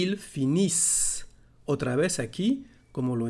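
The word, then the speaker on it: finissent: y c y el finish otra vez aquí como lo hemos dicho no se pronuncia ni la n ni la t final así que vamos a insistir en la s el finish y es todo hablamos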